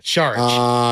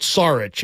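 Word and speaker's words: Šarić: weekend you guys know it's not sarich it's Char you're an info guy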